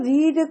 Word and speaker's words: read: Students रीड को second और third form में रेड प्रोनाउंस किया जाता है, लिखा READ जाता है, लेकिन प्रोनाउंसिएशन जो होती है वो रेड होती है।